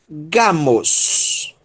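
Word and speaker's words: γάμος: E a sílaba tônica é essa daí. Então, um gama e um alfa, Gá. Gá. Ok? Depois nós temos um Mi, som de M, ômicron sigma, Mos. Gamos. Gamos.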